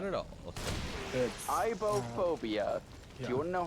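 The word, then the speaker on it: aibohphobia: of pal is called um not at all ibop phobia do you want to know how that is spelled same backwards yep that's the point a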